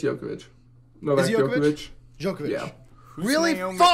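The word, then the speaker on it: Djokovic: Serena Williams oh was it was it uh yovic yovic or dravic I I always forgot to say his name it's it's jokovic noov yovic really oh man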